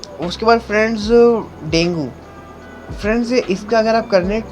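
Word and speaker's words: Dengue: उसके बाद friends डेंगू। Friends, इसका अगर आप करने प्रोनाउंसिएशन देखेंगे तो इसको डेंगू नहीं डेंगी होगा।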